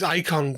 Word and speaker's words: IKHON: Released in 2023, IKHON, and yes it is pronounced IKHON, I checked with Johan Noor, is described as a mysterious box, a jail that keeps four almost forgotten gods at bay.